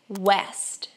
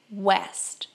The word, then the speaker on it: west: O W inglês ele vai ter um som de U.